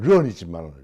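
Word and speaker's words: 人: 상상했다고 한다 동의한다 그런데 오늘날의 발음으로는 런이지만 런이지만 과거의 발음이 인일 때 인 또는 잉일 때이 발음은 어디서 왔느냐 이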